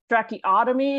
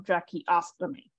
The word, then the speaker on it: tracheostomy: it is yes so so that's why I'm making sure you say the the s in the tracheostomy because without that s